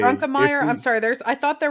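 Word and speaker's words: Grunkemeyer: His name is Ethan Grunkmeyer. Grunkelmeyer. Grunkelmeyer. So Like You Grunkle can't State. take that syllable away. It's the best one. I'm Yeah. gonna. I will say Grunkelmeyer.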